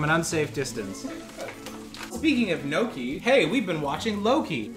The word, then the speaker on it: gnocchi: doing comedy okay i'm gonna look up the pronunciation of gnocchi it says gnocchi gnocchi good and now we mix it up